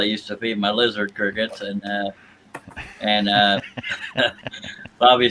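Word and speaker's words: Cricut: it up it says Cricket is pronounced like the insect cricket and not cry cut though spelling is a play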